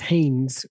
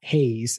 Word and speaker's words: Haynes: And also it's Haynes with an N, not Hayes, as in the guy behind me here.